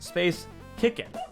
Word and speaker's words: Space Chicken: My name is Space Chicken, pronounced Space Kickin', because the C in chicken stands for cute, which is a hard C sound.